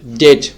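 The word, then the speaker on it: debt: তো এখানে এই যে ডেটর ডেট থেকে ডেটর তো এখানে আমরা যেই বির উচ্চারণটা এই ডেটের মধ্যে এই বির উচ্চারণটা এখানে উজ্জ থাকবে। এখানে অনেকজল থাকবে। মানে এখানে বির উচ্চারণটা হবে না।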